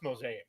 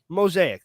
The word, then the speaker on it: Mosaic: And it's pronounced Mosaic. Mosaic. That sounds way better.